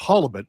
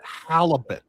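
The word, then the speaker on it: halibut: They have huge codfish up there as well as at Atlantic halibet and it's pronounced halibet. I'm from Maine, not halalibet.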